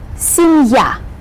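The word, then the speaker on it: семья: as a word divider so we pronounce this word as if it were two little words sin yeah see ya see ya later see ya moosh asian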